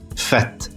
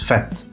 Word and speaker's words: fête: This one I've seen people mess up. It's enchanted fête, not fête or fête. It's fête. Fête, if I'm not mistaken, is like a celebration, a party, a festival.